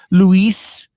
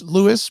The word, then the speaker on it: Lewis: gets mispronounced all time it's not luis it's lewis but hey you know whatever